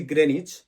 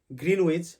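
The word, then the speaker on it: Greenwich: এর উচ্চারণটা হবে না আরেকটা জায়গা যেমন আমরা সবাই ভুল বলি যেটা জায়গাটার নাম হচ্ছে গ্রেনিচ আমরা সবাই বলি গ্রীনউইচ বাট সঠিক উচ্চারণ হবে গ্রেনিচ আরেকটা জায়গা হচ্ছে গ্লস্টে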